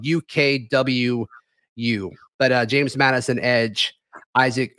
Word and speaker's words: Ukwu: Isaac Ukwu, I believe is how you pronounce it. His last name is spelled UKWU, but James Madison edge, Isaac Ukwu, they have offered him as well.